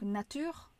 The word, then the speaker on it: nature: Donc bien sûr, une erreur commune que j'ai chez mes élèves, c'est qu'ils vont dire la nature au lieu de la nature et non, on prononce bien le thé et là comme un thé.